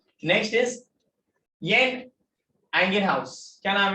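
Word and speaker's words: Jan Ingenhousz: Next is येन एंगेनहाउस। क्या नाम है? येन एंगेनहाउस, ठीक है। लिखे है जैन, ठीक है, बट वो जे प्रोनाउंस नहीं होता है।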